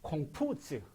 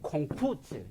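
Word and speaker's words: 孔夫子: 그래서 공부자라는 말을 이 중국어로 읽으면 요즘 발음으로 하면 콩푸즈, 이게 콩푸즈 이게 나거든.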